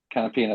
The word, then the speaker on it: Canapino: the Brazilian rookie who I'm afraid I can't pronounce his name. Agustin Canapino. Canapino, there we go.